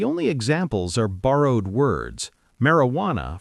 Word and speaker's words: marijuana: Marijuana from Spanish. The J makes an H sound.